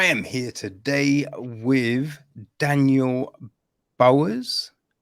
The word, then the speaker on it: Bowhers: So I am here today with Daniel Bowers. Is that how you pronounce it? Bowers? Yes, splendid. Yeah.